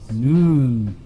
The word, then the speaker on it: Nun: cult this time it is the cult of noon which is spelt none but you call it knowledge and